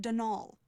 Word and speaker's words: Donal: not Donald mind you there's no D at the end so it's pronounced Don all that's the way you're